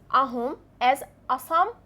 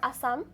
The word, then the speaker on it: Assam: The British pronounce asam or Assam which become the modern name.